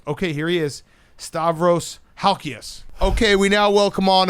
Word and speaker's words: Halkias: you believe in yourself halkias really good actually pretty close actually that's how it the ass is a real greek pronunciation most people butcher it you nailed it okay